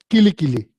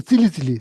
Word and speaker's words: kili kili: So there's one mantra you are supposed to pronounce. Kili kili, kili kili. You are supposed to pronounce like kili kili, kili kili. And then one person is like pronounce probably as a, saying wrong, pronouncing as a, incorrectly. Instead of kili kili, that person saying silly silly, silly silly, and been saying the long time.